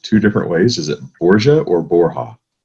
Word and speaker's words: Borja: So they went by Borja initially, but the proper pronunciation is actually Borja.